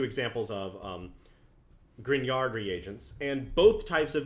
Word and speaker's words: Grignard: The second class of organometallic is called the Grignard. There's like a silent G in there. Grignard.